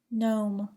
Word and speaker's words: gnome: Do not pronounce the G in the following words: align, assign, benign, campaign, champagne, cologne, design, feign, foreign, gnarl, gnash, gnat, gnaw, gnome, rain, resign, sign.